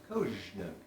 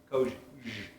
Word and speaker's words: COZSNUG: And so the official pronunciation of COZSNUG is COZSNUG. COZSNUG.